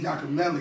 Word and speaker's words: Yacamelli: How you pronounce it? Yacamelli? Yacamelli. Yeah, okay.